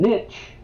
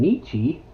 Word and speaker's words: Nietzsche: And Nietzsche, or as some people pronounce him, Nietzsche.